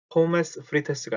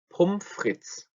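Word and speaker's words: Pommes frites: 포메스 프리테스가 아니고 폼프리츠. 다시 한번 폼프리츠라고 읽고 이걸 앞에 것만 떼놓고 요렇게만 쓰기도 한다 그랬죠?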